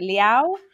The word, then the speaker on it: Liao: Is it Liao? Oh, it rhymes with Italian word for ciao, like goodbye. So Liao. Nice. Yeah. Liao. So Liao rhymes with ciao.